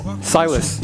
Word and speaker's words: Sajles: Silus. Silus. How do you spell that?